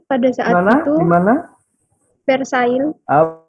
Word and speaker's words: Versailles: Versailles. Versailles bacanya. Versailles. Versailles, L-nya nggak dibaca. Versailles.